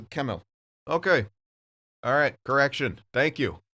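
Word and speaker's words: Kemell: This whole time, since he was drafted, I thought the dude was Swedish, so I've been pronouncing it Schemmel, which is the Swedish pronunciation, but he's Finnish. So it is Kemel.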